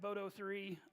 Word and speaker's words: boto3: now the big point of contention it is pronounced boto three i did pull up several youtube videos last night i did verify and listen to people actually say it out loud and they said boto three because I've heard people say other things boto